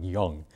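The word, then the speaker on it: Yang: by the name of young uh y n g but it's pronounced something that sounds like young to my my Western ears uh devised this newer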